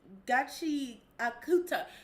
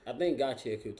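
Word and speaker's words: Gachiakuta: So I think Gachi Akuta is how you pronounce it.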